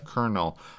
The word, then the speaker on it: colonel: I like his handle at Canada Colonel. COLON. I had a conversation with somebody. It's one of those like words where it has no R in it, but we say Colonel.